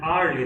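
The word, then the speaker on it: hourly: Spelling शुरू हो रही है एच से, एच है कॉन्सोनेंट, लेकिन इसे बोलते हुए साउंड निकलता है आ की, और आ एक वॉवेल साउंड है, इसलिए एन का यूज हुआ।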